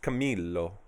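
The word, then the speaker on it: Camillo: is that they don't the two L's in Italian are pronounced Camilo Camilo been so kabura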